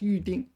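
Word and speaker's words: 预订: They're both pronounced uding.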